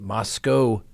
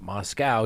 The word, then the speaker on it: Moscow: of four University of Idaho students now the Moscow Police Department not Moscow even though it's spelled that way which is leading the investigation